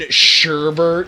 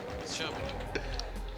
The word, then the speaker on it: sherbet: And I think you mean sherbert. No, I don't. Yes, you do. It's sherbet.